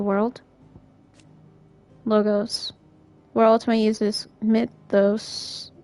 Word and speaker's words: mythos: Logos, where Ultima uses mythos, or mythos as they pronounce it in this game, to describe the vessel